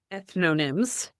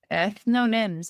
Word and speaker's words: ethnonyms: Ethnonyms. Ethnonyms.